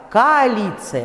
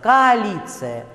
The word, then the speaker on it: коалиция: И, наконец, сочетание гласных – коалиция. Вы произносить должны не коалиция, не коалиция, а именно два звука близких к «а», два одинаковых – коалиция.